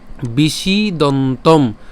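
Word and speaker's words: বিষীদন্তম্: মধ্যে ঠিক আছে এরপর বিশি দন্তম বিশি বিশি হ্যাঁ আচ্ছা এখানে খেয়াল করেন যে মূর্ধন্যস হচ্ছে যেহেতু সেজন্য উচ্চারণটা কেমন বিশি আর যদি তালব্যস থাকতো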